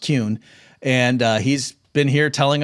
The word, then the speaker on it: Kuehn: Okay, well, folks, my guest has been Kuehn, even though it should be pronounced Kuehn.